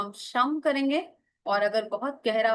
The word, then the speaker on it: शुम: शुम एस एच यू एम शुम उसमें शम बोलेंगे इसमें शुम बोलेंगे उच्चारण से बहुत फर्क